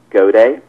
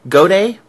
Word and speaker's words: Gaudet: Rob how do you say your last name goday goday yep Rob I'm I'm pleased as snot to